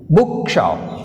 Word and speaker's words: book shop: book shop. Book shop we have stress on first syllable.